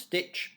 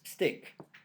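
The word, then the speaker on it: stich: english it would uh we would think it would be pronounced stitch but it's not it's stick so sometimes it's called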